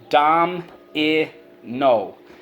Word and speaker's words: domino: Underline the O. The O can say O at the end of a syllable. That is rule 4.